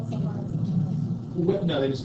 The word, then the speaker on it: Sahara: Sahara is how we pronounce it, sure, but the Arabic Sahara.